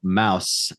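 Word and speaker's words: Maus: a Germanic language so Mouse m-a-u-s in German is mouse like house the way we say it okay so then uh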